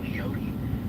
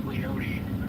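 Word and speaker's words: Leoti: shoot West here towards the town of leot I think is how you say that name that storm that is coming up towards leot um is really trying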